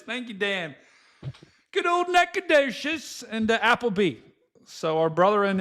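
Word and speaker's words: Nacogdoches: The storms are moving right over top of um how do we pronounce it again? Neaked. You try. Nakedious. Thank you, Dan. Good old Nadocious and Applebee.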